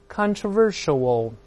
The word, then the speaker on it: controversial: 我们大声来读一下，重音后移了，慢慢来。controversial，叫做富于争议的，很有争议的。